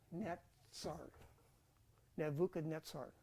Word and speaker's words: Nebuchadnezzar: Z's in his name there's not a z in Nebuchadnezzar it's it's that word is is the letter Sade so it's neet Nuka netar okay and here it